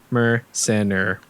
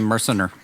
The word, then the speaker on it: mercenary: She then explains that Kerrigan is a gun runner, drug dealer, and mercenary, which she pronounces mercener. He's a mercenary.